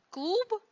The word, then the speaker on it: клуб: Когда парный звонкий согласный оказывается на конце слова, он произносится как глухой, то есть оглушается. Мороз произносится как мороз. Клуб как клуб.